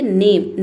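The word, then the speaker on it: name: सबसे पहला वर्ड है नेम। नेम का मतलब होता है नाम। इसमें ई को हम नहीं पढ़ेंगे।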